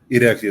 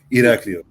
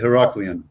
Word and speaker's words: Iraklio: Iraklio is the capital of the island. Where? Iraklio. The Heraclion.